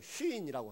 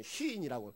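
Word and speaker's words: צִן: 신자는 새 신자가 아니고 히브리어로 그냥 쉰이라고 하는 발음도 잘 안 되는 시인이라고 신도 아니고 시인이라는 건데 한글로 포기할 수 없으니까 그냥 신해 놓은 거지 근데 방송 설교 나왔는데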